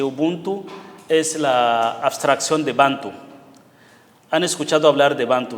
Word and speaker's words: Bantu: eso como bantu pero los mismos africanos dicen bantu como el acento prosódico se pone en la primera sílaba bantu Este Entonces ubunto es